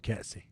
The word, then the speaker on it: Ketsy: That's what they call me back home, Ketsy. Sounds like a K-E-T-S-E-Y, Ketsy.